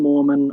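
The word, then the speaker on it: Mohrman: Klayton himself and Grant Morman of the Latter Day Saints. Easy joke to make since his name sounds like Mormon, but it's spelled M-O-H-R-M-A-N.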